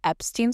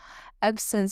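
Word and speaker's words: Epsom: I kept calling it Epstein salt. It's not that. Epson salt. I finally said it right.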